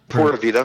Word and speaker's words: Pura Vida: Is it pronounced Pura Vida? Yeah, Pura Vida.